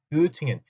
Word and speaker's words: Göttingen: 여러분들은 이제부터는 Göttingen 하지 마시고 발음도 정확하게 Göttingen 하고 읽어주시고 Tübingen, Göttingen 제발 그렇게 읽어주셨으면 좋겠습니다.